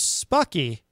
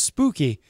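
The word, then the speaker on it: Spuckie: And the name of the project is Spooky, or maybe it's pronounced Spooky.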